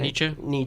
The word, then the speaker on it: Nietzsche: I don't think I pronounced his last name right. Nietzsche.